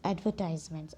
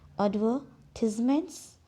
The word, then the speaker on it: advertisements: एडवर्टिजमेंट्स, ऐसा भी pronounce करते हैं इस वर्ड को। और एडवर्टाइजमेंट ये ब्रिटिश इंग्लिश में, अमेरिकन इंग्लिश में एडवर्टाइजमेंट्स और ब्रिटिश में एडवर्टिजमेंट्स।